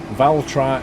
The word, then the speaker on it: Valtra: Valtra is how you say it.